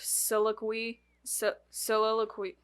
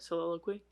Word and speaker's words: soliloquy: and delivers a brief Silo sililo can't say that word for the love of life of me um said it right Soliloquy for real yeah oh Soliloquy oh